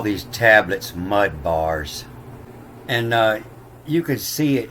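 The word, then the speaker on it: מדבר: And you can see what I was talking about before, that they'll change the B to a V when they pronounce it sometime. So now it's in midvar, in the numbers 1.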